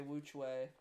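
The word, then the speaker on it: WuQue: 4, a WRM 4x4, Wu Kuei. That's probably still a good option. Or I should say Wu Chui, because that's how it's pronounced.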